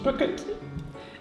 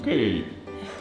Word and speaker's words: Bouet: Mrs. Bucket. No, it's Mrs. Bouet. The accent is on the last syllable.